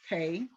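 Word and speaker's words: pei: um so now we're going to talk about the letter pay is p e i and I think it's pronounced pay and that is on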